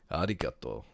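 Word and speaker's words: ありがとう: Arigato.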